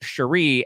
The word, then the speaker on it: Sheree: of uh atlanta and their names are basically spelled the same way but hers is pronounced sheree and then cheray from